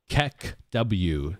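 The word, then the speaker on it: KEKW: Kek W is how it's said.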